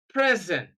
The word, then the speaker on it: present: If a two-syllable word is used as an adjective and also as a verb, stress the first syllable when it is an adjective and stress the second syllable when it is a verb.